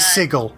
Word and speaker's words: Sigil: Well, technically, is that from, technically, like, sigil. It's pronounced sigil.